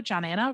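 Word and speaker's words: Johnanna: so my name is john anna hello john anna rhymes with banana uh i am rachma's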